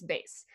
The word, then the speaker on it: bass: You can have a bass all you want to when you go fishing, but it's bass.